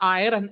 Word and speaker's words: iron: Like it is not iron, it is iron. R is silent there.